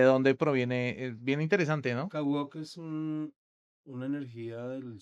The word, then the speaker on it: Kawooq: Y de dónde viene Kawuck. Se pronuncia así. Kaw. Kaw. Kaw. Como se escribe y de dónde proviene? Bien interesante, ¿no? Kawok es un una energía del sol.